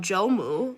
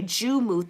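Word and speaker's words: Joumou: Um Juu, so sorry if I mispronounced it. Ju Okay, Jumu. Thank you for that.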